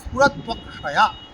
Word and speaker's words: স্ফুরত্বক্ষয়া: তদন্তঃ স্ফুরতু, তদন্তঃ স্ফুরতু, তদন্তঃ স্ফুরতু অক্ষয়া, স্ফুরত্বক্ষয়া, স্ফুরত্বক্ষয়া, তদন্তঃ স্ফুরত্বক্ষয়া, ত্বক্ষয়া ত্ব, তদন্তঃ স্ফুরত্বক্ষয়া, স্ফুরত্বক্ষয়া আমরা অনেকে বলি, তয় তয়, এরকম নয়।